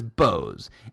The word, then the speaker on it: Bose: it because every commercial on the planet says bose and so if they was really boze they would say the commercials boze and i said let's pick up the phone and call 1-800 bose whatever and see do they say hi you've